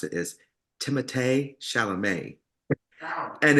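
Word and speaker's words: Timothée Chalamet: uh from rupa's drag race um where they pronounced Timothy sham but they found out that the real way to pronounce it is timate Shalom and it's so hilarious because they tie it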